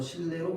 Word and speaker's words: 실내: 자, 다음 실내는 리을 뒤에 놓인 니은이 유음 리을로 바뀌어서 실내로 발음됩니다.